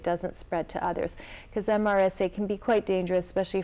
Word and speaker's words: MRSA: Yeah, we pronounce it MRSA, MRSA, Methicillin-Resistant Staph.